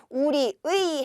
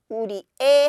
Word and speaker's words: 우리의: 얘기를 하는 거죠 그래서 관형격 조사 의는 우리의 할 때요 의는 의로 발음해도 되고 에로 발음해도 되는 거예요의 또는에 그래서 우리의 해도 되고요 우리에 해도 됩니다 또 강의에라고 얘기하면 강의의